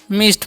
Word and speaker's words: midst: ठीक है, अब बढ़ते हैं आगे, क्या लिखा हुआ है MIDST, तो इसे हम पढ़ेंगे मिस्ट पढ़ेंगे। यहाँ पर डी साइलेंट हो जाएगा। ठीक है, तो मिस्ट मतलब होता क्या है?